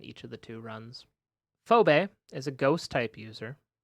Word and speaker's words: Phoebe: It's Phoebe. It's Phobe. Phobe. It's spelled phobe, but it's Phoebe.